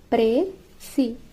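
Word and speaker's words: précis: ఏ ప్రెసివ్ pronounced presi means a brief summary of a given passage.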